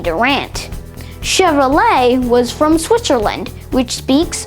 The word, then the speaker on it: Chevrolet: In French, it's common for CH to be pronounced sh, and for ET at the end of words to be pronounced A.